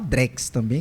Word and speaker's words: Drex: Aí ficou assim, Drex mesmo, né? Se a gente for mais puxando aqui para o nosso para o nosso nordeste do Brasil, né? Especificamente para a nossa região, para o nosso sotaque baiano, pode até falar Drex também, que tá valendo, né?